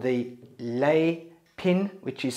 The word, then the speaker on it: Leypin: once again under Amazon it is called the lay pin which is spelled L e Y P I n selfie